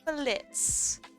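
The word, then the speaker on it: Blitzø: know uh and then Blitz the O is silent this is Blitz he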